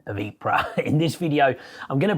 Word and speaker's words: Ypres: recognized pronunciations which is ipra kind of EP and then like r on the end IA the last piece